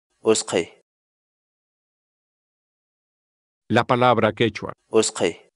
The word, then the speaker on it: utqhay: de vídeos en la que te enseñamos a pronunciar algunas palabras en quechua así que nuestra palabra del día por hoy es o sky o sky o sky la palabra quechua es que en español significa